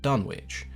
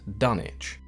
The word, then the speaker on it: Dunwich: the town was called Dunwich but Lovecraft was a fairly big Anglophile and there are many towns in his work as well as just in general that were named after towns back in England one of those towns